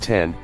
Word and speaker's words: X: The X, pronounced 10, is a beautiful, modern sculpture, and iPhone owners finally have a reason to show off their phones again.